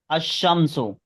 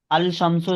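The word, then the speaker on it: الشمس: देख सकते हैं कि लाम नहीं पढ़ा जाएगा। अशमसो। अल शमसो इसको नहीं कहेंगे, अल शमसो नहीं कहेंगे। यहाँ पर लाम को नहीं पढ़ा जाएगा। अगर हम लाम को पढ़ते हैं तो ये गलत प्रोनाउंसिएशन कहलाएगा।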